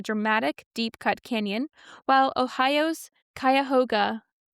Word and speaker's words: Cuyahoga: planet within a dramatic, deep-cut canyon, while Ohio's Cuyahoga Cuyahoga.